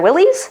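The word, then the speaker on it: Willys: The next thing I found I want to test drive is a used Jeep Gladiator Willies or Willis, depending on how you want to pronounce that.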